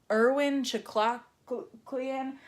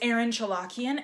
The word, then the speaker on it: Erin Chalukyan: Irwin Chuck Clark lien and I'm so used to people saying my name wrong I've never heard her win before but I went and I just said oh it's Erin chalukyan and all of the